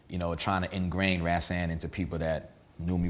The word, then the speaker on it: Rashaan: actually named me and the way you properly pronounce my name is rasan ran right and he named me after an